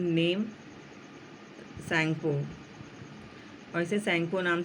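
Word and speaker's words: Tsangpo: इट is known by the name सैंगपो, और इसे सैंगपो नाम से जाना जाता है. यहाँ टी साइलेंट है.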